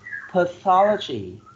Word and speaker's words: pathology: pediatrics 7f yes pediatrics number eight pathology pathology four syllables and you put the stress on the second syllable pathology you mess with e very good pathology and number nine we